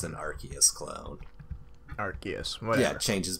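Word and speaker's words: Arceus: the Pokemon that I commonly refer to as Rus and is actually pronounced archus so Ares and I don't know what you've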